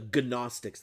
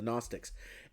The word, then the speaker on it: Gnostics: See, there was this other group called the Gnostics with a G. The G is silent. The Gnostics, the Gnostics.